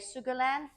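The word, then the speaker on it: 苏格兰: of Great Britain um I think if my pronunciation is correct you would say Sugarland um for Scotland the name in in Chinese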